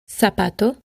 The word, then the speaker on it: zapato: Finally, when the letter Z is followed by A, O, or U, it is usually pronounced S. Zapato, zona, azul. With the exception of most of Spain, where the theta is used and is pronounced th, similar to the th in think and thank you.